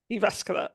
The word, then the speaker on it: Jyväskylä: based in Finland I hope I get this pronunciation right iasca yes iasca Aripeka is a three times Olympian swimmer and